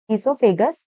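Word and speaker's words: oesophagus: इससोफेगस here O is silent.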